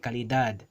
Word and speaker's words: calidad: For example, the word calidad, right? Calidad, that d, both of the d's there are both pronounced calidad. They are both hard pronounced as a d, right?